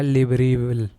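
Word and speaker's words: Libreville: और इसकी कैपिटल है लिब्रेविल। हाल ही में नासा ने किस देश के स्पेसपोर्ट से पहला रॉकेट लॉन्च किया है? ऑस्ट्रेलिया। शायद इसकी सही प्रोनाउंसिएशन है लिब्रेविले, जो ये गैबोन की कैपिटल है।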